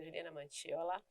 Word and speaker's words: Juliana Manciola: Vocês podem me seguir, né, Juliana Manciola com C, né? A gente pronuncia Juliana Manciola.